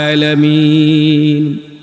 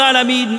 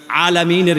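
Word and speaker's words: العالمين: প্রায় মানুষ করে থাকি আলামিনের ভিতরে এই আইনের উচ্চারণটা গলার ভিতর থেকে আসবে মাখরাজ অনুযায়ী উচ্চারণ হবে আমরা অনেকেই হামজা দিয়ে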